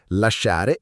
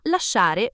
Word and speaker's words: lasciare: La regola è: quando SC è seguita da O o A, di solito si pronuncia come la SC di scuola, dura. Ma lasciare vuole mantenere il suono dolce in tutta la coniugazione, quindi tiene quella I come scudo, cioè come protezione del suono.